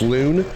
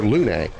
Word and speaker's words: Luna: I mean I never really thought of it the other way of it being pronounced loon.